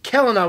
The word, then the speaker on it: Kelana: selena kalana helena yeah calendar hard c like celtic i i always screw it up kelana we have kelana uh